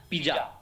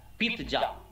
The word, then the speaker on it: pizza: আরও আমাদের প্রোনাউন্সিয়েশন প্রচুর ভুল করি আমরা, আমি অনেকগুলো তুলে রেখেছি, যেমন হচ্ছে পিজা, পিজা নয় পিৎজা, ইটালিয়ান শব্দ পিৎজা, পয়সিত বাংলাতে পিৎজা, পিৎজা,